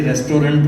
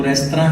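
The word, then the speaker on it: restaurant: जैसे रेस्टोरेंट बोलते हैं वो गलत बोलता है, उसका सही प्रोनाउंस, सही स्पेलिंग। टू स्पेल का मतलब होता है उच्चार, टू स्पेल का मतलब स्पेलिंग नहीं होता। तो वो रेस्तरां है, रेस्टोरेंट बोलते हैं, रेस्टोरेंट बोलते हैं।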